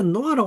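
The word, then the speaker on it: נח: 근데 노아라고 하는 것은 뭐냐면 이런 데 대한 나의 관점이 없어져 버리는 것이죠. 그래서 이때 노아는 발음할 때 그냥 입에서는 아가 아닙니다. 여 목구멍 끝에서는 아입니다. 노아. 예. 아발음 어렵습니다. 굉장히.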